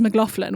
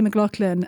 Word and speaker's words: McLaughlin: your name correctly so his his whole family says McLaughlin which is the typical American way to say it I believe but I say McLaughlin and I just spell